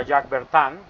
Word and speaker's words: Jacques Bertin: Si lo vamos a pronunciar como está escrito en español, porque el español lo permite, pero sería Jacques Bertin, porque la I es como entre una O, una cosa extraña en francés.